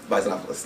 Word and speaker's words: Bisonopolis: Bisonopolis. Like Metropolis.